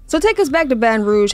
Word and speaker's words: Baton Rouge: I thought it was just Baton Rouge. It's really French. It's really Baton Rouge. Oh. So take us back to Baton Rouge.